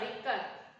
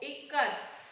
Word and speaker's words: ikat: Janaki teacher said it is pronounced I as it, I Kamala and T as th in both. Ikat is an Indonesia term meaning to bind.